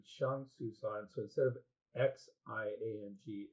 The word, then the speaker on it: Xiang: So it's the same exact pronunciation, but with an HS rather than X.